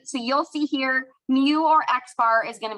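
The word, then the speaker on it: μ: So the population symbol is this Greek letter here pronounced mu and that means if we have every single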